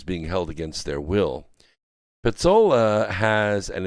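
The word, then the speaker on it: Pezzola: held against their will pizzola has and it's spelled p-e-z-z-o-l-a so i'm i'm saying like pizza but petzola has literally been in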